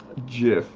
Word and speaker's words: GIF: uh you said a gif or a gif jiff because i went to iq tech itt technical